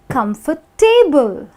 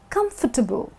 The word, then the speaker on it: comfortable: So I've heard a lot of people pronouncing this word as comfortable. Now I agree there's a table in the word, it's part of the word, but that doesn't mean that you put out the table. The correct pronunciation actually happens to be comfortable, which means Kum-fur-tbl, where the A is actually subtle. You know, you don't give so much importance to the A.